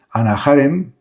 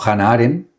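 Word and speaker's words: Hannah Arendt: En este sentido se puede decir que su propuesta se asemeja a la de autores como Anna Harem o Hannah Haren, mejor pronunciado, que entendieron la política como espacio de acción y de aparición pública.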